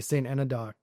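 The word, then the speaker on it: St Enodoc: I got up one morning um and made a long drive out to I don't know if I'm pronouncing this correctly, St. Anadok. Anod.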